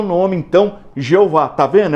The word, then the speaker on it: Jeová: Pegaram as vogais de Adonai, que eles sabiam a pronúncia, e enxertaram no tetagrama. Daí surgiu a pronúncia Jeová, que na nossa língua nós falamos Jeová.